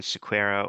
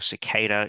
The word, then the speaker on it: Sequeira: uh my name's squa or cicada if you say it properly um as Brian did